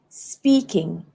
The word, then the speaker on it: speaking: I have to stress on speak. So it would be speaking.